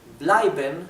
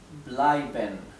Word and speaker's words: bleiben: Bleiben significa quedarse. Se escribe así. Bleiben. Recuerden que la EI siempre se pronuncia ai.